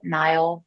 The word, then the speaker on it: Nyle: reason you can connect with me at blue nile therapy dot com it's spelled n-y-l-e like my name so blue nile